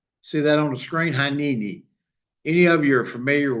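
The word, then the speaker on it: הנני: And today I'm going to talk about a Hebrew word, and I'm going to butcher it, but it's pronounced HINENI. See that on the screen? HINENI.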